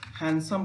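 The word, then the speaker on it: handsome: हैंडसम पढ़ते हैं तो यहाँ पर हैंडसम पढ़ना चाहिए, यानी यहाँ पर डी का उच्चारण नहीं करते हैं।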